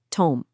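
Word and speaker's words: תם: And here's the first cornerstone he landed on, the Hebrew word dom, pronounced tom.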